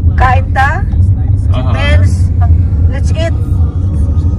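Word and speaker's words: Cainta: There's no S. It's Kainta. Kainta. That's C-A-I-T-A. That's Kainta. That's Kainta. Do not put S because if you put S, there is no place in the Philippines, Kaintas.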